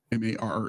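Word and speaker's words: Mare: M A R E.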